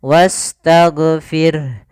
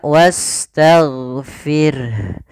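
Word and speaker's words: وَاسْتَغْفِرْ: Huruf ghainnya hati-hati jangan sampai memantul. Kesalahan yang terjadi memantulkan huruf ghain, misalnya wastaghfir, wastaghfir. Ini memantul. Sering terjadi kita dengar dia memantul huruf ghainnya. Harusnya tidak boleh karena dia sifatnya tidak ada qalqalah.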